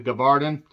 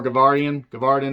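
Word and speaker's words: Gévaudan: The Beast of the Gavardan. Or Gavardan, I think is actually how it's said.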